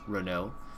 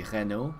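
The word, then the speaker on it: Renault: say a Reno or if you're a French actually there's no aans there so it's just Rena if you're were a French it' be Reno I guess cuz you have to pronounce the r it's not a badl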